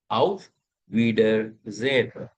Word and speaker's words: auf Wiedersehen: Then we also learned I-E combination is always pronounced as E. That's why I say we. Wieder sehen. Wieder sehen. So the entire word becomes auf Wiedersehen.